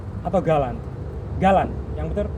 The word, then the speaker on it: Galant: Pasti ada yang tanya, bacanya itu Jelen atau Galan?